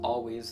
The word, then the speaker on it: Alvvays: We're starting off with Always, spelled Alvvays. It's pronounced Always, though.